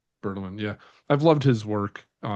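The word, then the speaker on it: Bertelmann: Bertelman? Bertelman, yeah.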